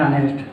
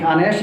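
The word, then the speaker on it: honest: ठीक है, अह में क्या होता है, और ह छिपा होता है, इसमें यह साइलेंट होता है, इसकी स्टार्टिंग कॉन्सोनेंट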